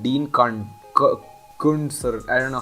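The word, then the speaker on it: Koontz: It's by this author called Dean Kuntz, or I don't know how it's spelled, the last name. So that Cunt. yeah, exactly. It's Koonts, but it's pronounced as Kunts.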